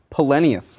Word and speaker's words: Polenius: So this is about Watch Captain Polenius. Oh. Like Poland. Polenius.